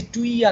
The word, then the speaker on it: tuyere: इसे टुइया कहते हैं, बट आप ना कहो तो चलेगा. टी कैसे होता है स्पेलिंग?